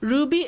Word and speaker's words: RWBY: I was right. Ruby is Ruby. I read it as RWBY.